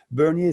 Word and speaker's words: Bernier: And just for anyone listening, you just said Bernier, not Bernie.